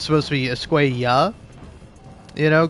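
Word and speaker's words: Escuella: read Javier's name as Esquea when it's supposed to Esquea, you know, cuz in Spanish like the double L is pronounced like a Y.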